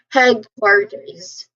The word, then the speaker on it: headquarters: So, you know, headquarters. Headquarters. So, the primary stress it falls on the first syllable head. So, you say this part with slightly more emphasis of course.